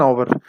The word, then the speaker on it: hour: man, देखिए जी एन आवर, क्यों एन हावर तो नहीं कहेंगे, ए हावर तो नहीं कहेंगे, बल्कि एन आवर कहेंगे। एच जो है लिखने में आएगा, पढ़ने में नहीं आएगा चूंकि ये साइलेंट है।